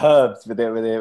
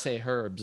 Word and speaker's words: herbs: Yeah, herbs with a pronounced Right. H. Yeah. You guys say herbs. I think we don't somehow we don't pronounce the H.